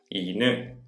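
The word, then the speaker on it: 犬: I use iNU(dog) and NEko (cat) to help me remember.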